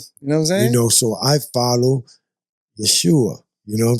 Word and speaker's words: Yeshua: called Jesus ever existed because the letter J and that whole sound that they pronounce his name didn't exist in that time the letter J has only like 500 years in existence. You know what I'm saying? So Yeshua is his name.